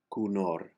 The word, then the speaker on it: conhort: The last word, conhort, you drop the two H's and the T as they are all silent. And since the accent is on the second syllable, the first O is pronounced like a U. So you have the word cunor.